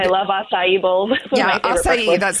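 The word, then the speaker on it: açaí: Yeah, acai, that's how you say it.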